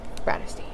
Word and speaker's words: Bratterstein: If you've never been here before, hello, my name is and my channel name is pronounced Bratterstein.